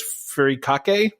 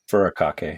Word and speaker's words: furikake: Furikake? Furikake, yeah.